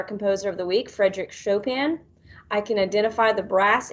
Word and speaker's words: Chopin: is frederick chopin and i know it looks like it says choppin but it's really pronounced chopin he was born march